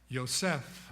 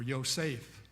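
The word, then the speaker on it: יוסף: Now, as we've already said, the Hebrew name of Joseph is, in the Hebrew you would pronounce it something like Yosef or Yosef, but we say Joseph in English, and once again remembered of God.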